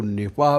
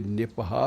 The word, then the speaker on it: निपाह: Virus का नाम है निपा वायरस। इसको निपा भी बोलते हैं। कुछ लोग इसे निपहा भी बोलते हैं। तो दो-तीन उच्चारण हैं।